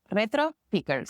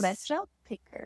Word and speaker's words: Retropickers: Like 2 words. Retropickers. Retropickers.